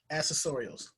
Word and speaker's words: accessorials: Accessorials. Like accessories, accessorials.